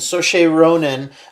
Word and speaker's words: Saoirse Ronan: for marriage story and so Shay Ronin for Little Women Eric's looking at Saoirse Ronan name and wondering how I came up with that pronunciation that was perfect Gaelic Irish I don't know but